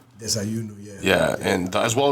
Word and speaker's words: Desayuno: Was it Desayuno? Desayuno, yeah.